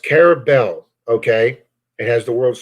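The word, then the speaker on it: Carrabelle: Pronounced Carabel, okay?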